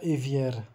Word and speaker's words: évier: E o R de évier não se pronuncia évier.